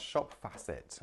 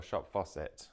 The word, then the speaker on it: Shop Facet: That's Shop Facet, okay? F-A-C-E-T or Shop Faucet, whichever way you'd like to see or say it or spell it.